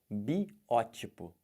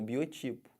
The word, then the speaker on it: biótipo: Olha como é que fala isso. Biótipo. O pessoal fala como? Biotipo. Mas tá errado, o certo é biótipo. Pô, você é magrinho assim? Esse aí é o teu biotipo. Não, esse aí é o seu biótipo, tá bom?